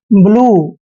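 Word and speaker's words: blue: पूरा वर्ड है और वर्ड के लास्ट में यू ई इकट्ठा आया है तो यू ई का उच्चारण बड़ा उ करते हैं ठीक है जैसे इसको पढ़ते हैं हम ब्लू ब्लू मींस क्या होता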